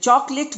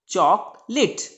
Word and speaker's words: chocolate: चॉकलेट, right. अब आप इसको कभी भी चॉकोलेट प्रोनाउंस नहीं करेंगे।